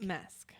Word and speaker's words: Masque: Mask. Mask. Okay. I don't know because of the Spanish I guess. I mean, yeah, it's spelled differently, but definitely pronounced mask, I believe.